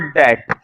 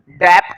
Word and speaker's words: debt: ध्यान रखना, इसको गुड डेट बोलते हैं, डेट, डेप्ट नहीं। कुछ बच्चे इसकी बी की भी साउंड को बोलते हैं, डेप्ट बोलते हैं। डेप्ट मत बोलो, डेट, बी साइलेंट है, डेट, डेट, ठीक है।